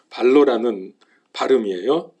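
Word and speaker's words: βάλλω: 발로라는 말인데 발로 뭐 손으로 발로 그런게 아니고 발로라는 발음이에요 이건 자동사 있고 동사도 있 니다 자동사로 맡긴다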